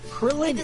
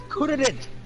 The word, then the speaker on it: Kuririn: Krillin is not Krillin. Krillin is Kuririn. Get it right. It's too hard for Justin Cook to pronounce, so they renamed him Krillin.